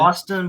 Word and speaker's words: Autsyn: Austin, but it's spelled AUTSYN. It's like spelled Austin.